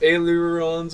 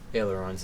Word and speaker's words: ailerons: decide if I want to do the adaptive ailerons or whatever. I don't even know how it's pronounced, so I go ahead and do the 1 slight maneuver. Ailerons is correct.